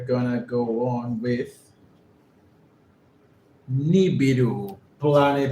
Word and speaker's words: Nibiru: This is a possible image of Nibiru, the Planet X. Again, how do you pronounce his name? Nibiru? Is that correct? Nibiru, okay.